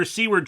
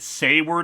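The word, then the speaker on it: Seward: the good doctor's laboratory I should note that indeed seword is the correct pronunciation of his name according to the life of Riley interviewers some commenters were confused about that I think I've pronounced it say word a few times it happens I'm not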